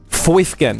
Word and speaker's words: Foifkin: Foifkin. Yes, that is how you say it.